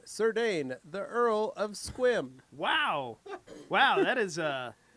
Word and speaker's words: Sequim: like Sequim, but it's Squim.